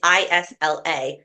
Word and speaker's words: Isla: No one could pronounce her first name. It's Isla.